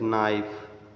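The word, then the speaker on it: knife: letter के इ silent यदि एन के पहले के रहता है तो के साइलेंट रहता हैसे नाइफ नाइट न नॉट नीट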